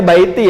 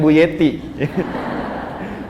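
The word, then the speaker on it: بيتي: Bacanya baiti ya, bukan buyeti.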